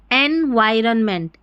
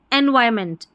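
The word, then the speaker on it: environment: अब यहां पर जो आर है ना ऐसे एनवायरनमेंट ऐसे नहीं पढ़ेंगे। एनवायरमेंट एनवायरमेंट ये जो आर है ना ये थोड़ा सा साइलेंट सा यहां पर रहेगा। तोड़ते समय हमने ऐसे लिख लिया है। लेकिन एनवायरमेंट एनवायरमेंट आर जो अपने मुंह के अंदर ही बोला जा रहा है। अगर हम ऐसे पढ़ेंगे एनवायरनमेंट ऐसा थोड़ा उच्चारण सही नहीं आएगा।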